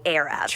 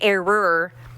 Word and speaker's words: era: It'd be like me having to learn how to say the word era. That took a long time from me saying error and era.